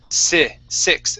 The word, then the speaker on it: six: Let's go to the word six instead of six. It's six. A short I sound.